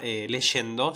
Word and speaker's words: leyendo: decir, ah, bueno, ok, la palabra leyendo, ¿sí?, se pronuncia con la sh cuando tiene la y, ¿sí?